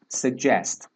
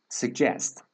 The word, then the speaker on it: suggest: the American pronunciation is suggest suggest so there is G sound which is not released G sound okay suggest but we don't release it suggest suggest all right and the